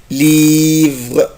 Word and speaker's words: livre: livre الكتاب انطقها ازاي livre livre, livre. Je ne prononce pas la lettre E après la lettre R.